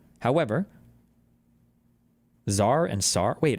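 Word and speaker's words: tsar: more capable than the SAR however it's SAR right however Zar and SAR wait is Zar pronounced the same way as SAR CZ a r and TS a r Zar Zar Zar right yeah however of mobilizing Russia's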